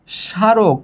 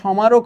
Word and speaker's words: স্মারক: এখানে আছে স্মারক, কিন্তু ময়ের উচ্চারণ কই? তাহলে এখানে সমারক হওয়ার কথা, কিন্তু আমরা বলছি এখানে স্মারক, ময়ের উচ্চারণ নাই কেন?